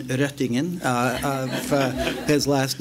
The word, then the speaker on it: Røttingen: What I want to congratulate John-Arne, and I will correct you on the pronunciation, Røttingen, of his last name, and his commission for,